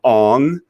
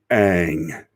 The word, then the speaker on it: Aang: And because his name was not Ong. There are 3 seasons of Avatar: The Last Airbender where it's the original, and it's pronounced Aang, and it's Sokka and